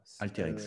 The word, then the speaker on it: Alteryx: AT, comment ça s'écrit, Lolo? A-L-T-E, A-L-T-E-R-Y-X. Alterix, voilà.